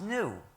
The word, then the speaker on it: gnu: according to the dictionary in this word the g is silent and it's pronounced new so every time you